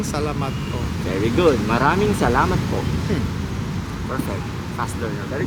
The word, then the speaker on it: maraming salamat po: so it's like maraming salamat po. Maranging Ma ra ra ming ming maraming salamat salamat po. po. Maraming Perfect. salamat po. Very good. Maraming salamat po.